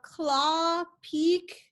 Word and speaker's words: Klapheke: year i was married it's claw or claw peak kind of just ignore the h and then you're good peak yeah it's just